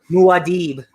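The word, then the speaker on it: Muad'Dib: book of ma dib or whatever it pronounced that muadeeb muadeeb now i know thank you and then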